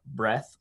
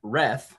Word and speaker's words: Reath: is about my guest is facebook friend zach breth whoops zach reth excuse me i said breath because my my pronunciation here says breath and i i read